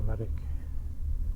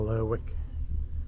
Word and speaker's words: Lerwick: It's just a very short journey across to Lerwick or Lerwick. Apparently either pronunciation is correct. Asking one of the locals yesterday, so there's not a right or a wrong way.